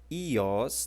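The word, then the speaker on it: υἱός: As outras palavras que nós temos aqui são, quinta, a palavra ios, tá ok? Isso aqui é um som de I, o Y.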